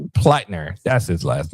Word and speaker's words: Platner: Graham Platner. Platner. Platner.